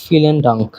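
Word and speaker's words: vielen Dank: Next আরেকটা দেখি, এটা হলো ফিলেন ডাঙ্ক। বিয়ের উচ্চারণ এফ এর মতো, এটাকে ফাও বলা হয়।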